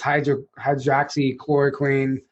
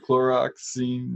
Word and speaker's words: hydroxychloroquine: vaccine thing and this hydroxychloroquine. Hey, you said it right. Yeah. Yeah. It's so You said it better than most of the people on stage up there. I know. Most people like chloroxine.